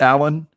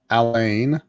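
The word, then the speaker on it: Alain: and you pronounce it alan it's just alan even though it looks like elaine it's the french french version of alan okay got it yeah not elaine i shared it out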